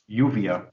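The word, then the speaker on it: Lluvia: Uvia, but it's spelled Lulvya.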